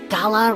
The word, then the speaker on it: gala: Isn't it weird how the word gala rhymes with voila, like a big performance reveal?